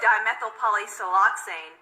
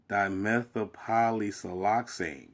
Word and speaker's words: dimethylpolysiloxane: The antifoaming agent, dimethylpolysiloxane, is a type of silicone used.